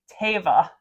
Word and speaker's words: Teva: They went on to Threads and said that we were pronouncing it wrong, not us personally, most of America in general, and it's Teva.